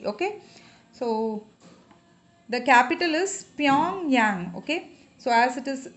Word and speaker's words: Pyongyang: So the capital is Pyongyang, okay. So as it is a little, if you find it difficult to pronounce it, just you remember that this is Pyong and this is Yang. There are two friends.